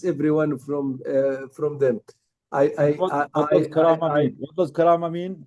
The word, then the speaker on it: Karama: So Karama gets very annoyed when everyone misspell her name or mispronounce her Karame, name. they say So Karame. please try to know the exact spelling of Karama, because it means dignity in Arabic. Karama means dignity. Try to spell it, or pronounce it right.